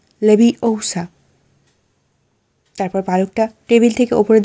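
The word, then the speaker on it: Leviosa: হঠাৎ চিৎকার করে উঠলো গার্ডিয়াম লেভিশা হারমিয়ন বলল ভুল হলো তুমি ভুল উচ্চারণ করছো এত যদি জানো তাহলে তুমি নিজে উচ্চারণ করো হারমিনের উদ্দেশ্যে বলল হারমিয়ন তার গ্রাউনের আস্তি ঘটালো এবং দাদুর দন্ডটা বের করল তারপর উচ্চারণ করল গার্ডিয়াম লেভি ওসা তারপর পালকটা টেবিল থেকে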